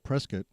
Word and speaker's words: Prescott: name Prescott we're the only one that's called preset and that's because of the family changing the uh uh way you pronounce it after they got here from England